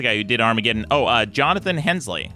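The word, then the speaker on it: Jonathan Hensleigh: and who's the guy who did Armageddon Oh Jonathan Hensley right is that is pronounced yes yes yeah he worked on Armageddon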